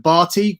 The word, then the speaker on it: Bhatti: If you say it like that, instead of Barty, just pronouncing it Batty like a lot of kids did at school, actually means gay.